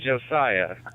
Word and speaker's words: Josiah: How do you say his name? I apologize. What's up, Mav? Yeah, it's Josiah. Josiah is his name, and yep, that's him.